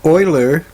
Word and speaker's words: Euler: to analyzing arguments with Oiler diagrams now I would have pronounced that uler but I've heard others Oiler I guess it's a German way of pronouncing that so in reflection